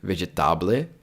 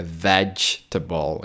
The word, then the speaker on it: vegetable: E essa última aqui que muitas pessoas vão tentar pronunciar ela da forma como elas leem, ou seja, vegetable, mas não, é vegetable. Esse aqui, ó, ele some.